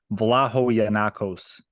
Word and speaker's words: Vlahogiannakos: Vlahogiannakos. Yeah, it was close. Actually, that's one of the better ones I've heard. It's Vlahogiannakos.